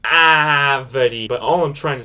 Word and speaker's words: árvore: But all I'm trying to say is that this letter A makes a more open vowel sound. You're pronouncing the A more stronger. Árvore.